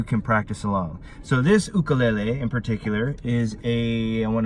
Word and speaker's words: ukulele: Pronounced ukulele. The reason it's pronounced u with a u, not ukulele, is because it's Hawaiian and it basically means the jumping flea. So ukulele.